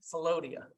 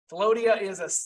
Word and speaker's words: Philautia: And I believe it's Philodia, spelled Philautia. It's the first in the 7 loves as defined by, I believe the Greeks were the first to do this. Philodia it's self-love.